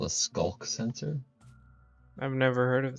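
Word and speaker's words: sculk: Minecraft apparently called a skull sensor I've never heard of this it's spelled SC ulk sensor like in start of sense skulls whatever the heck that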